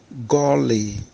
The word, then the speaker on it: goli: Pronounced golly.